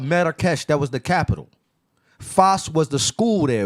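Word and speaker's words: فاس: It's not fez. It's not spelt in Arabic. In English, F-E-Z is F-A-S. Fas.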